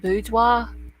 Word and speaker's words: boudoir: Okay, so geez, it's pronounced boudoir.